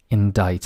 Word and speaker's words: indict: by a grand jury indict and as you can see the sea is silent the next one is